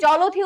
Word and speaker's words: জলধি: দেখো এই জলধি উচ্চারণ কি? আমরা উচ্চারণই করছি কি, দেখো জলধি, জলধি। এখানে আরেকটা অপশন আছে, তোমরা এটাকে বলতে পারো, কিন্তু এখানে জ উচ্চারণ হবে, কিন্তু জ উচ্চারণ হচ্ছে না। কি উচ্চারণ হচ্ছে? জলধি। তাই এখানে একার ওকার হবে, কিন্তু এটা হবে না, এটাও হবে না, এটাও হবে না। সঠিক উত্তর হবে হচ্ছে জলধি।